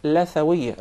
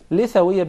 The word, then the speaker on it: Lithawiyya: It is commonly mispronounced. Some people will call it Lathawiyya. Rather, in Arabic it is called Lithawiyya because we call the gum Litha. Yes. So that's why it is proper to say Lithawiyya.